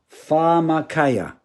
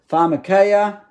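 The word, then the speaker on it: φαρμακεία: five double three one the original word is farmer kaya there it is pharmacaea translated a transliterated word pharmacaya that's how you say it what does it mean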